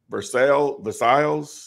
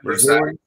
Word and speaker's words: Versailles: 307 North Van Buren Street, Versailles. V-E-R-S-A-I-L-L-E-S. Yep, Versailles.